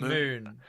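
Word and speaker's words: Mün: from the start off it's pronounced moon it's Moon it only has the the uml is only ever shown on that that's enough it's Moon just spelled differently it was clearly what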